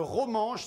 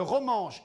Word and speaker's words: romanche: oui oui c'était hier avanth le ranche le romangeche ça s'écrit r o m a n C H e oui le romangeche est depuis 1938 oui l'une des langues officielles